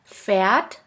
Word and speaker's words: Pferd: Now let's continue with the next letter combination, PF, which sounds like a puff sound. Here we have the example of the word Pferd, which means horse.